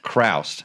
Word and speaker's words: Chroust: with Gabe and your last name is Christ Christ okay I was curious about the pronunciation of that so Gabe you might know